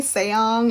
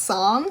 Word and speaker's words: Song: the sibling's last name she kept saying seong and i'm pretty sure that's not right like it's just song so that was just